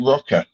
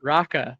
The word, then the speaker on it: Roka: I pronounce it Roka. That's maybe I will stand corrected as the author should be the one dictating the pronunciation. Yeah, it's your choice. Yeah, Raka. Yeah, right. I'm fine with it. Maybe it's an American thing. Maybe Americans look at it and it's obviously Roka.